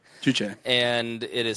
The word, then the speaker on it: Juche: And so he created a new religion called Juche. Juche. And it is spelled J-U-C-H-E if you want to study up more on this.